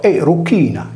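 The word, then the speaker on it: Erucina: La diva dell'amore era chiamata anche Dea Cruciforme, poiché il suo nome veniva pronunciato Eruchina, che vuol dire in sardo, appunto, della croce.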